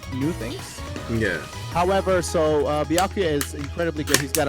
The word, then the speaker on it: Byakuya: Byakuya. That's how you say it.